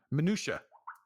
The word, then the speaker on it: minutiae: how the how to say this word paste pronunciation minutiae okay minutia I didn't know how much of